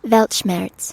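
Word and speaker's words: Weltschmerz: So, I have the definition here of Welchmmerz. At least that's how I believe it's pronounced. Velmers.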